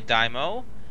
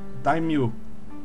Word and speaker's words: daimyo: I have my Daimo. Yeah. My general. You are totally saying that wrong, by the way. Daimo? Daimyo. Daimyo.